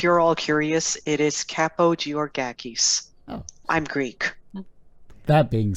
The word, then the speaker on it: Kapogeorgakis: that yourself if you're all curious it is capo g or gakis i'm greek that being said now that we're